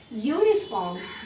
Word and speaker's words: uniform: O and not H next uniform those starts with a vowel sounds more like you which is you is a consonant so that's all you